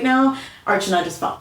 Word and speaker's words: Archana: Archana. How do you pronounce Archana?